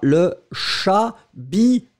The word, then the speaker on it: chabichou: Ice Cube, il faut répéter après moi, le chat-bi-chou. Respectons les fromages quand même. Hein. Alors, on y va. Le terme... Chabichou équivaut à l'occitan cabecou.